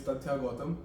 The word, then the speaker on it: Tathya Gautam: how do you pronounce your name? So my name is Tathya Gautam, and like people are not able to pronounce it over here properly, so I just go by.